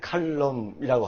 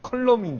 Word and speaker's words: 칼럼: 왜 웃으십니까 아니 뭐 발음을 칼럼이라고 하라고 제가 말씀드렸죠네 저는 컬럼인 줄 알았어요 그게 어렵습니까 발음 마실게